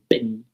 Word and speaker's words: Benin: That's how it's pronounced. Benin. It's as if you can't even hear.